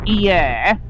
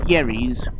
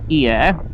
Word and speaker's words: Hyères: in a place called Hyères, that's the pronunciation in French. If you're English, it's pronounced Yerres. But the French pronunciation is Hyères.